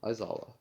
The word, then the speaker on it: Aizawa: No, Aizawa.